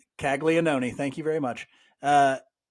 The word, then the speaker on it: Caglianone: It's Caglione or something like that. Caglianone. Caglianone.